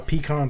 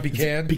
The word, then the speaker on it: pecan: I say it Pecan is all. local pronunciation. Pecan is Western, I believe, because my mom and dad used to tear each other limb from limb about that. Pecan, yeah, is also a southern thing too.